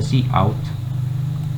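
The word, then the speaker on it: cout: number five we have the c out pronounced as c out it's an object used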